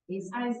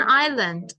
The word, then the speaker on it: Island: Greenland is the largest Island it's an Island Ireland the S is silent I learned in the